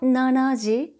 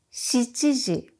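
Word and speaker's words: 七時: G but yo G 7 o'clock is not Nanaji but she's T G 9 o'clock is not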